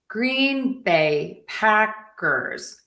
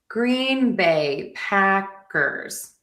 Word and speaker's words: Green Bay Packers: Moving on to Green Bay. We have a syllable pattern that is going to be stress unstressed. Stress unstress. So, Green Bay Packers. Green Bay Packers. Green Bay Packers.